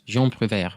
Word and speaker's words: Jean Prouvaire: Is it Jean Prouvaire? Yes. Did I say it right? Yes, Jean Prouvaire.